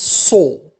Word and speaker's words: saw: We have the verb to see, in the past becomes saw, a pronounced o, lamaha.